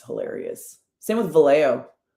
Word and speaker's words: Vallejo: Same with Valo. Anybody out here pronouncing the J and Valo? Stop. Nobody does that.